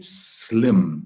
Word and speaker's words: slim: nunca chegar a acontecer cuidado aqui com a pronúncia de slim slim é som de s de separação uma mancada né uma Pisada de bola frequente entre os brasileiros é produzir esse S Inicial com som de z e sair Slim slip